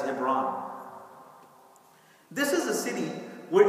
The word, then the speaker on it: Hebron: In Hebrew, it's Hebron, but in English, it is pronounced as Hebron.